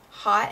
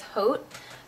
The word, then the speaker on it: Haute: lash mascara and so I always call it hot and naughty but I think the proper pronunciation is Haute because when I went